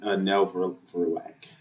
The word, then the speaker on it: Nell Verlaque: So yeah, Nell Verlaque. That's how you pronounce her name.